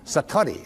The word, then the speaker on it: Satori: excuse my Japanese but it's called Satori I'd love to say that Satori SAT Ori and it